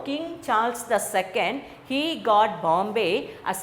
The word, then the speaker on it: Charles: Okay, அவங்கள இந்த King George Charles சார்லஸ் சொல்லக்கூடாது, ஸ்டைலில் நம்ம சொல்லணும், CHARLES, சார்ல்ஸ். சார்லஸ் அப்படி சொல்லக்கூடாது, சார்லஸ்ன்றதை விட you have to pronounce it ஆஸ் சார்ல்ஸ்.